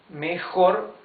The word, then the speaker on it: mejor: Mejor and peor. Each one has two syllables. Mejor, peor. Remember the J pronounces okay? Mejor.